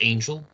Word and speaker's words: Angel: And forgive me if I had pronounced his name Richard Angle on a previous episode of Black Box Online Radio, but it's pronounced Angel.